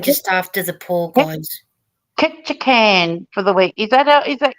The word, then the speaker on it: Ketchikan: Ketchikan for the week.